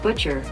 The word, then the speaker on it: bocce: pickleball court butcher court it's called butcher everybody says Butchy it's not called Bocce it's Italian thing hey Google how do you say boce that's pronounced butcher now let's check out